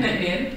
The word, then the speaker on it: Nc'nean: Yeah, Nc'nean. Nc'nean, and the full name is then Neachneohain.